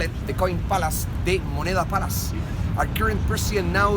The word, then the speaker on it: Moneda: Moneda, with a D, moneda. We are so bad with pronunciation in Chile.